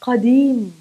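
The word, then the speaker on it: قديم: Another word with the letter Qa is the adjective qadim, qadim, old, or Qareeb, Qareeb, close, something that's nearby, close, Qareeb, not Kareeb, not Ka.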